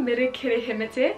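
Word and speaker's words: Meri Kirihimete: Kia ora e te whānau, mere kere hemete.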